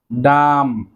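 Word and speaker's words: dumb: দেন রয়েছে ডাম, ডাম, ডাম অর্থ বোবা। যারা কথা বলতে পারে না, বোবা, তাদেরকে বলা হয় ডাম, ডাম। এখানেও বি এর উচ্চারণটি কিন্তু সাইলেন্ট থাকবে।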